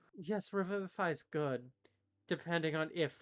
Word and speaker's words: Revivify: say it it's got revival i know it's pronounced revivify revival phi is funnier so crazy here i tired maybe